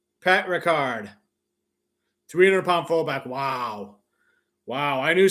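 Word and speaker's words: Patrick Ricard: Pat Ricard. Did I pronounce that right? Kind of like Jean-Luc Picard from Star Trek. Pat Ricard.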